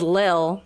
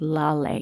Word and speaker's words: Lale: I thought it was Lil from the book. I know, or Lale. Yeah. That's what I thought too, but I listened to it, and they pronounced it Lale.